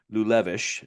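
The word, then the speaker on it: Liulevicius: Um, this doctor Veas Gabriel Lulevish, I think is how you pronounce it.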